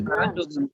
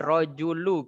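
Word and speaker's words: رجلُ: Rajulun a'mal. Hal anta rajulu a'mal? Bukan. Anta rajulu Ini a'mal. Lahza sebentar. Di sini rojulu kita bacanya ya, dhammah.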